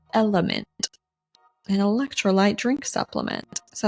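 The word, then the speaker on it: LMNT: this week is called element an electrolyte drink supplement is that the correct way to say it yep and it's not spelled out element it's l m n t I'll pop up a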